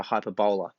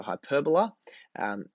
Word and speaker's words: hyperbola: a hyperbola okay now it's not like a hyperbole that you might use in English and exaggeration it's also not pronounced a hyperbola the bowler who's moving very quickly and rapidly it's a hyperbola which means it's the